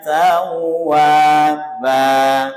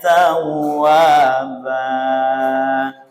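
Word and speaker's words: تَوَّابًا: Seringkali dipanjangkan innahu kana tawwaba. Allahu Akbar, kan itu, ya. Ini tidak boleh kepanjangan, ya. Jadi waba disamakan wa dengan ba.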